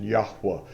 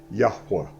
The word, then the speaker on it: Yahuwah: really great hebrew scholars the way i pronounce it is the pronunciation yahuwah that's big daddy's name jehovah yahuwah i mean there's several different dialectic ways to pronounce it i like to pronounce it yahuwah and he's big daddy